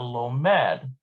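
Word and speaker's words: לומד: lamid which equals two note that while the singular forms the stress falls on the mem so we've got lomed lomadet it is shifted to the last syllable in the plural forms lomadine lomadote so you see how these are bold that just means the emphasis is shifted in plural to the end rather than in the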